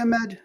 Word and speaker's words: Ahmed: So for the audience, my name is Ahmed, by the way. So Ahmed. Sorry, I meant to pronounce it correctly. I said Ahmed. Yeah. I know the H is difficult, but Ahmad is okay.